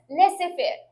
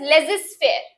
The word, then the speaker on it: laissez-faire: इट इज मिसप्रोनाउंस्ड एज laissez-faire, but it is correctly pronounced as laissez-faire. It is a French word which means a policy or attitude of letting things take their own course without interfering.